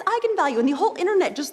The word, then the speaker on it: eigenvalue: that i wasn't quite sure on how to pronounce it looked to me like vegan value so right i mean i think that's what